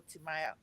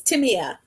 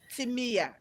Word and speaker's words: Timea: I am talking about our beautiful Timaya. Did I get the pronunciation correctly? Close, Timea. Timia, Yes.